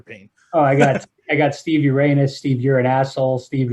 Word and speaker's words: Urena: Is it Urena or? Yeah, Urena. Urena. Okay, Yeah. okay. Cool. A So lot of everyone. people mispronounce that one.